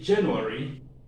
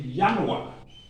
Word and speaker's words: Januar: german we don't say january they are cousins so they are layered and speak languages similarly so they don't say january but they say yanwa you remember this aim